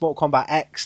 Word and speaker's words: Mortal Kombat X: a point of saying it's Mortal Kombat X not 10 so you do pronounce